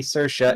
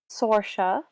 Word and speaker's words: Saoirse: I thought I was saying Sorsha to begin with, and then someone said Saoirse, and I was like, all right, I'll say Saoirse. I was like, you got it right.